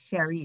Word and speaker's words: Cherie: Cherie is the way to pronounce it.